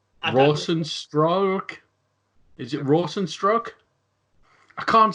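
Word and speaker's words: Rozenstruik: I mean, Joe Rogan is a Rosenstrike, right? Okay, but the way it's spelled, you wouldn't think that, would you?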